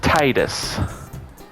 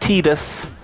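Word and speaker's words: Tidus: pronounce some stuff and it's pronounced Titus not Titus Titus and it bugs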